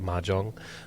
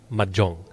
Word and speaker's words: mahjong: love okay we don't we don't pronounce it Mahjong we call it Majong um in the Filipinos